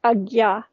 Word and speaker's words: Ajna: It's the place within the physiology, let's say the area of the pineal gland, which is where your Agya chakra is. Ajna is pronounced Agya.